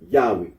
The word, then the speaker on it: Yahweh: The scholarly consensus is that the original pronunciation of the tetragrammaton was Yahweh.